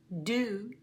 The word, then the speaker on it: do: The unusual pronunciation of O at the end of the word is in to, do, who. It's very unusual to say oo with one O.